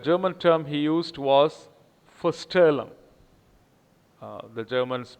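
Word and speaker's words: Vorstellung: the original english german term he used was foster the germans pronounce the vsef so it is for sterling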